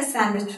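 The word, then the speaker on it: sandwich: prepare a सैंडविच फॉर me just prepare a सैंडविच फॉर me fine so यू वनट B pronounce Ang this word D while you आर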